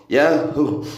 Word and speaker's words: يا هو: Makanya bebas diucapkan nih karena menggunakan dhamir Yahu, Yahu, huwa Asalkan kalau diwakafkan menjadi hu, ya asalnya itu huwa, kemudian dasar ilmu tajwid kalau wakaf huanya wawunya dibaca sukun menjadi yahu.